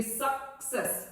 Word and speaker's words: success: Now next is success, because double C is there, so obviously you will be giving a little stress on C, so it will be success, not success, success.